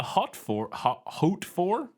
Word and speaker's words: Hautefort: is the Chateau de Hautefort. I don't know. It's French. I don't know. It's spelled like haute, like the fashion, like Haute. Isn't that haute? Yeah. Yeah, Hautefort, and it's fort.